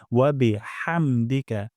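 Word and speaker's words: بِحَمْدِكَ: হচ্ছে কিনা আমরা দেখব হা গলার মাঝখান থেকে উচ্চারণ করব হামদিকা হাহামদিকা এখানে উচ্চারণ করবো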